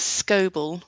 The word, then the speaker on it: Scoble: So my grandmother's maiden name was Scoble, which she spelt S-C-O-B-L-E. Okay. But lots of the older records spell it S-C-O-B-E-L-L.